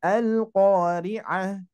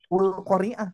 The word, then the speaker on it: Al-Qari'ah: Kalau Al-Qari'ah kan sudah tahu tadi kita ya, dibacanya Al-Qari'ah. Tapi kalau misalkan Bapak Ibu belum pernah belajar, belum pernah membaca Al-Qari'ah, pasti bingung. Baca Ul-Qari'ah pasti ya, Ul-Qari'ah karena bentuknya seperti dhammah gitu ya.